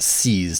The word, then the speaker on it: CSS: And now David, it's pronounced seas, dear boy. Seas, it's Slatechester by the seas. It's not an acronym. It's not a file path.